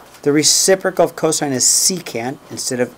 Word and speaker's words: secant: Okay, we'll call it secant. It's not sec, okay?